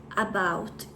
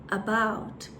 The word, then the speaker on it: about: É pronunciada assim, ó. Não é um about, é um about. Ele tem mais ou menos esse som. Eu vou deixar aqui embaixo